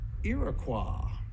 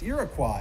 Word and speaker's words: Iroquois: qu o is you would pronounce it qua and that's what the French people call this Iroquois if you went up to Montreal right now that's how they still say that word so Iroquois not Iroquois like ile of qua which is where that word originally come from why people around here say Iroquois I have no idea you're actually saying it wrong and you're admit you're